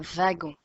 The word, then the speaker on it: wagon: gomme le gorille un wagon le w se prononce vive donc un wagon le dragon lait légumes